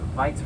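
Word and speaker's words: wyd: It was actually pronounced Weitz rhino with a V, which means wide in Afrikaans.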